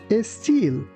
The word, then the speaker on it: style: Please be careful not to pronounce this word like style.